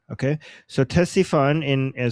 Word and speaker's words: Ctesiphon: Uh T- uh Ctesiphon. Ctesiphon. Okay? So, Ctesiphon in uh So, the C apparently is not uh silent.